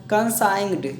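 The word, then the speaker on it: consigned: है सही हो गया कं साइंड क्योंकि जी यहां पर साइलेंट है जैसे साइन में साइलेंट होता है उसी प्रकार फिर हाइम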